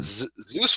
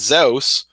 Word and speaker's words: Zeus: somebody like Zeus but but Zeus wasn't even Zeus it was zos or Zev in some dialects of Greece um and so that